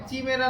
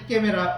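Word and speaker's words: Chimera: উচ্চারণটা হয় চিমেরা, না হয় মানে আমাদের বাঙালি উচ্চারণ হলে চিমেরা, আর হচ্ছে যদি কিনা সঠিক তাহলে ক্যামেরা উচ্চারণ হয়।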